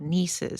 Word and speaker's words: Niece's: So there's a local sausage brand called Niece's, spelled like Reese's.